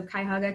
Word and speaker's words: Cuyahoga: difficult time sure nate um so you are pronouncing it correct so cuyahoga community college so you're good um we also